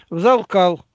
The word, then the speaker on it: взалкал: И вот Сергей, ты считал, говорит, взалкал. А почему ты считаешь, так ударение туда делаешь, на второй звук, а не на первый-то?